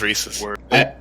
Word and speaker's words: Reese's: Well, she says the reason people pronounce it one way is because the guy's name was Reese's.